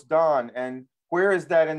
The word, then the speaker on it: Dan: He said, how do you pronounce it? And we said Dan. And he said, no, it's Don.